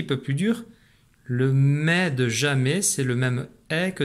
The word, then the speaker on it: jamais: problème j'en suis sûr ne pas oublier la lettre s qui est muette dans jamais j'entends le raid du